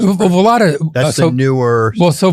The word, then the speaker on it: Vallata: Did I pronounce it? Well, Vallata.